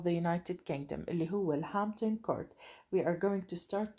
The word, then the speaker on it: Hampton Court: We are going to start talking and reading about discussing the paragraph that was written about Hampton Court. رح نبلش إحنا بالهامبتون كورت، وبدنا ننتبه إنه هون البي سايلنت لا تلفظ، مش تقرأوا لي إياها Hampton.